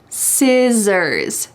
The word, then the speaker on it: scissors: Notice that the C is silent. Scissors.